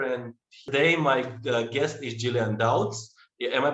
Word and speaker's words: Gillian Dowds: channel agile seeker and today my guest is jillian doubts am i pronouncing this right jillian yes you got it